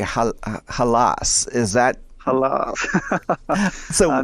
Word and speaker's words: Hallas: pronunciations about it and um i i say halas is that a love i know it's i i mean you're allowed to say it however you like but i guess is the right pronunciation halas yeah it's it's basically a nonsense word so